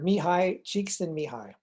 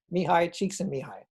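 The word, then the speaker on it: Mihaly Csikszentmihalyi: the place next is dr mihai cheeks and mihai how that name equals that pronunciation is beyond me but that's what it is mihai cheeks and mihai and he is the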